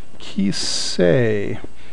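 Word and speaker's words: כִּסֵּא: Ki, and the first vowel, first syllable is actually kis, because this is doubled. Kis, and the second syllable is say. Kis say, and you don't actually say kis say any more than you say lit tol in English to say the word little.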